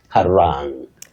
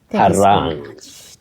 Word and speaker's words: harangue: sometimes guessing certain pronunciations innocently, but the correct pronunciation for this word is harangue, harangue.